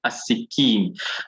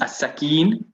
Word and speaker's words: السكين: no harakat on here, you must know that this is the word as-sikin. Now, you could have thought it is as-sakin, but is there a word like sakin?